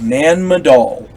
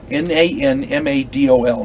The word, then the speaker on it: Nan Madol: remarkable for those of you who don't know nan madol n-a-n-m-a-d-o-l nan madol is an archaeological site adjacent to